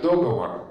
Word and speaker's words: договор: Например, знаменитое ударение «договор» возникло под влиянием других слов, оканчивающихся на «говор». Мы знаем ударение «выговор» на первом слоге, «заговор» на первом слоге, когда-то говорили «заговор». Вот и ударение «договор» возникло по модели этих слов.